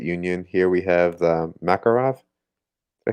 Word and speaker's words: Makarov: Here we have the Makarov.